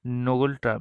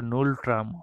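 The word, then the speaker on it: Ngultrum: Next, নোবেল ট্রাম, এটা নুল ট্রাম হয়, উচ্চারণ নুল ট্রাম হয় কোন দেশের মুদ্রাতে?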